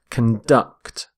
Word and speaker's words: conduct: are conducting electricity so note the stress of on the verb as well conduct conduct stress on the second syllable we say conduct when